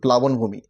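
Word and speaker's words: প্লাবনভূমি: প্লাবণভূমি। এটা প্লাবণ ভূমি উচ্চারণ হবে।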